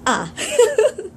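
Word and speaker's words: А: hope you enjoy so the first letter of the Russian alphabet is ah like in the English alphabet it's a but in this one it's ah like you know when you you're watching a scary movie and you scream ah think of it that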